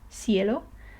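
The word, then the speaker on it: cielo: I like for example in the word Theo which means the sky then it is more similar to this th sound in think okay thinko some people especially in Spain pronounce it more like an S like sound sound cello but I'm more inclined or most people are more inclined towards the TH or something in between so we're always safe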